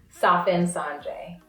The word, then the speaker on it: Safinsandré: i n s a n d r e pronounced sens sanre s s San San